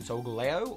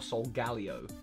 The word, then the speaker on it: Solgaleo: I call it Solgaleo, but I'm being asked, is the pronunciation Solgaleo or Solgaleo? Solgaleo.